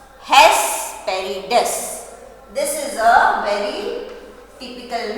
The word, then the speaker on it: Hesperides: So the pronunciation is Hesperides. What is the pronunciation? Hesperides. Right? Hes. H-E-S, Hes. P-E-R-I, Peri. D-E-S, Des.